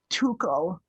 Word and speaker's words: Tuchel: oh yeah, Tuchel.